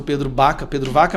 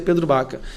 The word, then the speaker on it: Pedro Vaca: E nosso gabinete está em contato direto com o grupo do Pedro Baca, com assessores do Pedro Vaca, mas pronuncia Pedro Baca.